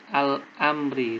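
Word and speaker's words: الأمر: Kemudian yang keempat al-amri. Ini kebalikan dari al-syamsiyah. Hukum bacaannya al-qamariyah. Lam sukunnya terbaca.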